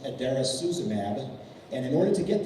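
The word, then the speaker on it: idarucizumab: It's pronounced adairasuzumab.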